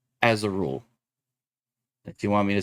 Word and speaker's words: Azharul: Zymor, Azurul, Faluzar.